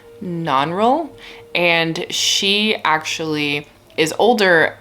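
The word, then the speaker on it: Nannerl: the sister who i think her name is pronounced non-roll and she actually is older and a really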